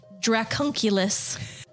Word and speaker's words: dracunculus: that's kind of cool say it again the dracunculus one more time it's exactly how I'm saying